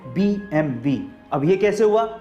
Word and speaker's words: BMW: BMW ही पड़ते हैं लेकिन रेड्डी इसे BMW नहीं पढ़ा जाता इस का सही उच्चारण है बीबीएमबी अब यह कैसे हुआ